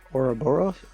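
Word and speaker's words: Ouroboros: about this earlier um and she brought up Ora boros or Oro borus oroboros how do you say that oroboros you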